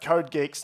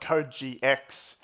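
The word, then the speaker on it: CodeGeeX: tsinghua University Professor jitung there assures me that it's pronounced code Geeks not code GX I think I would have put picked code GX this model is slightly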